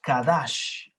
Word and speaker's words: kadash: Sería C-A-D-A-S-H, Kadash, y también C-O-D-E-S-H, Kodesh.